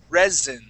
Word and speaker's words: resin: have not seen before the word is resin so that s is going to be a z sound resins try that resin